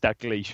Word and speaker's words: Dalglish: It's pronounced Dalglish, really, isn't it? Yeah, it's Dalglish.